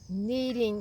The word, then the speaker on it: kneading: bowl and knead it it's called kneading like you need bread it's spelled k and a kneading it and